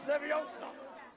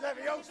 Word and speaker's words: Leviosa: They're saying it wrong. It's Leviosa, not Leviosa.